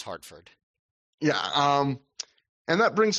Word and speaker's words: Hartford: Davey also says Hartford. Weird like he call says it Hart forward with a weird emphasis on Ford.